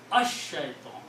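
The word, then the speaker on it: الشيطان: So, when you read this pronounce, Sheen kills the sound of Lam and you pronounce Ash-Shaitan.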